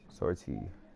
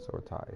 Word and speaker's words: sortie: Sortie. There it is. Sortie. Not sword tie. Sortie. So the I is silent. Sortie.